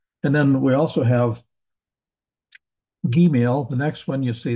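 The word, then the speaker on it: gimel: change between the two it's going to be a just a g sound it's not G is in giant it's G is in Goat or go or something like that it's a hard G sound Gil is a hard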